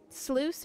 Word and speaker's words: sluice: Sluice, it rhymes with loose.